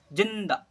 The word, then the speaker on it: जिंदा: देखिए कैसे उच्चारण करते हैं, ज में छोटी की मात्रा जी और आधा न के लिए थोड़ा सा कम उच्चारण करते हैं। ठीक है, और दो एकर दा, जिंदा, जिंदा, न को थोड़ा सा साउंड देंगे।